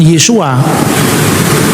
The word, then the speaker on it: Yesu: Tapi lidahnya Petrus, lidahnya Andreas pasti nggak bisa ngomong Yesua. Yesu itu cara pengucapan orang-orang Galilea. Dialek Galilea itu beda dengan dialek Yerusalem.